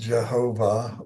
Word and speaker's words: Jehovah: is spelled jhvh uh conventionally pronounced Jehovah or Yahweh or y um but